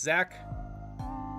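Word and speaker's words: Zak: It's just Zach. Z-A-K. That's how I pronounce it.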